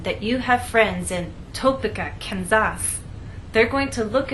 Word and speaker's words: Topeka: you can see that we stress the middle part of the word Topeka and here the